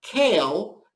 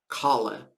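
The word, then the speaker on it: כּלה: In Yiddish, there are no silent vowels. When you see an E at the end of a word, it is pronounced. This word looks like the English word kale, but in Yiddish, we pronounce it kale.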